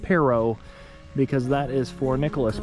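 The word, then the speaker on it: Perrot: And it is it looks like it's spelled parrot, but it is pronounced perro because that is for Nicholas Perro, who was a French explorer to this area in the 1700s.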